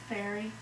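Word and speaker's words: Ferry: Fairy. Fairy. Very. How do you spell it?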